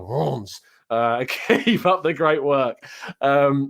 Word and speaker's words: Reims: I keep on wanting to say Reims now because I think I saw Robin FTV say Reims, but it's pronounced Reims, something like that.